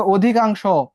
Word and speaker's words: অধিকাংশ: এরপর দেখো, অধিকাংশ, অর পরে কি যুক্ত আছে? রস্বই যুক্ত আছে, তাহলে অটা কিসের মতো হয়ে যাবে? ওর মতো হয়ে যাবে। ও ধি কাং স, শোনা যাচ্ছে না, ওকার হয়ে গেল।